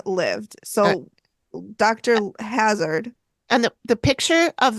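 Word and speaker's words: Hazzard: died and Dr Hazard why do I keep wanting to say Lazard I don't know because it's spelled h a z z a r d so you would think maybe it was Hazard yeah Dr they all said Hazard Lazard was a green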